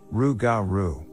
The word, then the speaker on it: rougarou: was old legends of the rougarou which is pronounced rue garu i told my grandpa